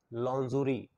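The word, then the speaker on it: lingerie: जान वाले छोटे कपड़े को हम बोलते हैं लांजोरी स्पेलिंग है ल आई एन जी आई आर आई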